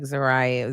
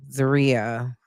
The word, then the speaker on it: Zaria: Now I did tell you guys I feel like Zariah Zaria Zaria keep saying it wrong. Zariah it's Zaria was very levelheaded.